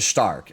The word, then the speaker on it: Stark: And lastly, we come to Stark. And yes, despite the spelling, that is how you pronounce it.